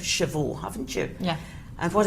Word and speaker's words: chevaux: Because you've got a silent letter there at the very end of chevaux, haven't you?